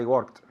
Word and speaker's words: work: I work yesterday I worked I worked okay careful with this verb okay work oh you write it with an O but it's pronounced as if it were with an E worked with a t